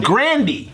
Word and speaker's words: Grande: Grande, it's pronounced Grandy. Grandy? She actually said that one time. It's not Grande?